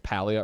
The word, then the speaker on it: Palia: Is there a pronunciation guide online? I mean, also people argue if it's paleia or paleia or paleia.